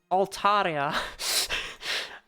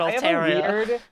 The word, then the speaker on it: Altaria: mulligan on that one Altaria I don't like the way I say it all Terror I have a weird